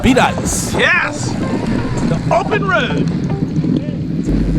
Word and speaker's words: Bedias: This is before we found out it was called Bedias. Yes. The open road. Pronounced like ice.